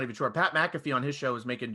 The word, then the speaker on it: Pat McAfee: your argumentative shows to your very opinionated show, Pat McAfee, I said that right? Yeah, Pat McAfee. I always feel like I'm saying his name wrong, and I know it could kick my